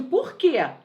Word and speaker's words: porquê: você não me entende por quê olha como ele é forte eu pronuncio de maneira clara forte você não me entende Porquê esse Porquê esse que é tônico por isso que ele